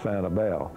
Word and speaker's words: Sanibel: Santa Laura said of Santa Belle which is a correct pronunciation Santa both Tomatis and